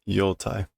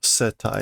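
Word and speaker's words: 世帯: Okay, it is not yotai. That is obi, right? That is obi. Oh, setai instead of yotai.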